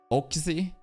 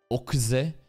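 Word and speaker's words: Oczy: Okzy. O-C-Z-Y. But, you know, in anime, we've got to pronounce that in the weirdest way fucking possible. Okzy.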